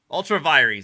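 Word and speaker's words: ultra vires: trespassing you are transparent google how do i pronounce ultravirus ultraviolet ultravirees there we go ultraviolet ultravirus is no not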